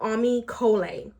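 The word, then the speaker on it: Ami Colé: it sit let's talk about Amy Cola that's how you pronounce the name so uh the brand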